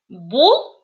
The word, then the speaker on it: бул: У нас автоматически в первом слове, когда у нас «у» используется, «л» произносится твердо. То есть, смотрите, бул, бул.